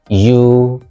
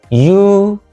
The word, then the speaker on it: eulogize: Stressed on the first syllable, what we have is eulogize, eulogize.